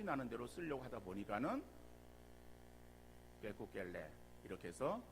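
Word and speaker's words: 可口可乐: 그래서 그들의 발음으로는 게쿠겔레라고 쓰는 거예요.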